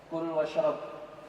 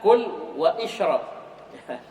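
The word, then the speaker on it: كُلْ وَاشْرَبْ: Terus, Kul washrab, makan dan minumlah. ya, jangan bilang kul wa isyrab. Kul wa isyrab, jangan.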